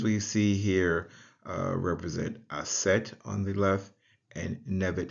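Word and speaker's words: Aset: which the man's seat sits it is uh pronounced asset and on the head of the the next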